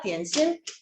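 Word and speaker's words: 点心: 그리고 이거를 이제 딤섬은 광동어고 점심이라는 한자를 디엔신이라고 하거든요. 읽어볼까? 디엔신.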